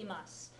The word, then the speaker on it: imasu: Try to resist the temptation to drop that e in the imasu part. In anime, you hear it pronounced that way a lot because that is slang. It's a contraction.